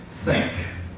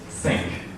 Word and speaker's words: sync: the day for you I picked sink sy c sy MC sink as a trendy verb to